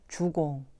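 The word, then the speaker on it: 足: 않는데요 그 원형 색 주공 그 어는 교묘한 말이고 0 색은 꾸민 얼굴빛이 입니다 원래 공자는 교원 0 색을 매우 싫어 햇죠 그리고 발 족자를 지나치다 에 뜻일 때는 주 라고 읽습니다 주공은 지나친 공손 을 말하는데요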